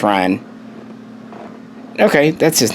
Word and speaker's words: Rian: his name Rianne Johnson I thought it was rien onsen for a bit but once I realized hey it's Ryan okay that's his name